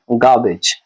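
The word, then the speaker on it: garbage: गार्बेज इसका pronunciation है गार्बेज आर के बाद बी है तो आर को बहुत कम करके बोला जाएगा नहीं के बराबर बोला जाएगा इसलिए इसको गार्बेज बोलेंगे गार्बेज गार्बेज मींस होते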